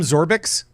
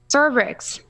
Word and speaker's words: Zorbrix: Did you just call him Zorbix? Zorbrix. Zorbrix. Are you sure? I don't have to pronounce the R so harshly, Okay.